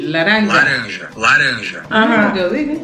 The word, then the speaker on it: laranja: Escucha la pronunciación. Laranja.